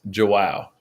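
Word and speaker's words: João: Is it Jow? Jow? It's Joao. Joao.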